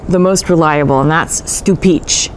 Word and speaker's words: Stupice: most reliable and that's Stupice. It's actually pronounced stu-peech-k.